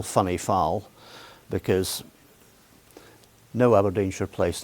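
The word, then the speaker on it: Whinnyfold: And he chose to stay at lodge in a cottage in a place called Wenny Fold, which we call funny foul because no Abodine should place name is pronounced the way it's written down.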